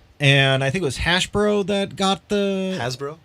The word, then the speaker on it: Hasbro: And I think it was Hasbro that got the... Hasbro? Yeah, Hasbro. Not Hashbro.